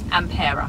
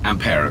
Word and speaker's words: Ampera: And how do you say Ampera? Ampera. Ampera. Good.